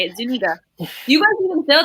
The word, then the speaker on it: Zuniga: Do you guys feel like that okay, so besides Jabari Zuniga, that's how you say it, Zuniga.